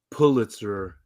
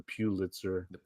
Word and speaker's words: Pulitzer: author of The sympathizer or Pulitzer as I've heard some people say I grew up calling that the Pitzer maybe that's maybe that's my mom's Arkansas pronunciation white trash Arkansas she